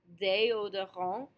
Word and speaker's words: déodorant: Just a few of the letter combinations it can be made by are the E accent aigu, as we see in déodorant. We have that déodorant.